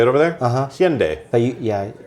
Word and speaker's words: Hyundai: And it feels like Hyundai did that.